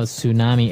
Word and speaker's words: tsunami: they may have a tsunami well this doesn't sound very English does it I know tsunami and actually if you see the spelling it's with a t t s right I think it's a